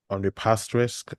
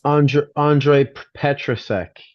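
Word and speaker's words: Ondřej Petrášek: Is it Ondrej Pastrisk? I can't pronounce Petras Ondrej Petrasek. Petrasek, excuse me.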